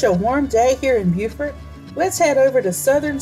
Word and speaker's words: Beaufort: it's such a warm day here in beaufort let's head over to southern suites on bay